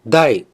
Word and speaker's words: 第: Huruf ini dibaca dai. Tidak ada cara baca lain.